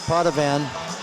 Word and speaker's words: Potovan: So it is pronounced Potovan. Sounds like a new car.